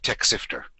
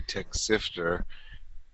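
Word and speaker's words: Texifter: this is techter so if you think about uh Texas and sifter and you stick them together you'll have Tech sifter okay so that's how you say it I was always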